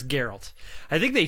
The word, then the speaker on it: Geralt: gonna try to emulate Gerald or Gerald's voice I'm pretty sure it's Geralt I think they pronounced